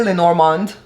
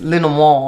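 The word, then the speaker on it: Lenormand: I think I've said it wrong. People say Lenorand, but it's Len Mo.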